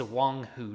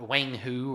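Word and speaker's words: Wanghu: those that didn't know that is Wong who not Wang who or however you want to pronounce that Wong who is literally Chinese for King Tiger so his name is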